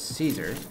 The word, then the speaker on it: Caesar: it back to kaiser i know that you would pronounce it as caesar but i guess it's pronounced as kaizar in latin i'm gonna just stick